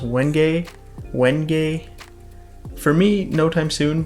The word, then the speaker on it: wenge: to purple heart to what I would have called wenge if I hadn't heard a bunch of people already pronounce this wood before. It's wenge, pronounced wenge.